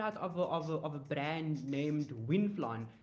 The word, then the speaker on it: Wynflon: But so down here in South Africa, we actually we found out of a brand named Winflon. It's spelled WYNFLON. So it's Winflon.